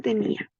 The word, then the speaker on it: tenía: En el corazón tenía. La palabra tenía es grave porque se acentúa en la penúltima sílaba, que es ni.